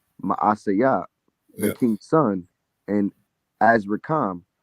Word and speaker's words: Maaseiah: And Zechariah, a mighty man of Ephraim, slew Messiah, the king's son, in Azrikam. It's Maaseiah, the king's son, and Azrikam, the governor of the house, and Elkanah, that was next to the king.